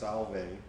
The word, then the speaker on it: Solvay: He was born in, and he always liked to talk about that, in a small, I think it's pronounced Solvay, New York, near Syracuse.